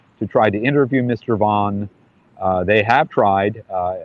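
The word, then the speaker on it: Vann: man in prison in Indiana um Darren Deon van it's spelled van v Ann but he pronounces it vau he's in prison for in Indiana for the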